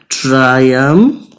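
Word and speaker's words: triumphant: এটা উচ্চারণটা হবে ট্রায়াম্ফ্যান্ট।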